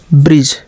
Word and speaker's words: bridge: जैसे BRIDGE, तो ब्रिज, ब्रिज, ब्रिज, बीच में डी को छोड़ दिए, ठीक है।